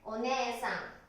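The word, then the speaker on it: お姉さん: お姉さん。発音はお姉さんですね。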